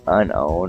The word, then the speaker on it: Unown: So unknown. And they spell it's like unown, like you own something.